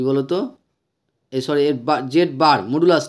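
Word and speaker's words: z̄: বলে modulus জেড জেড এটাকে কি বলা হয় জেড বার ঠিক আছে জেড বার বলে উচ্চারণ করা হয় বা যে z এর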